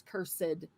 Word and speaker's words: cursed: through because everything is cursed they like to pronounce that extra Ed at the end cursed shall be the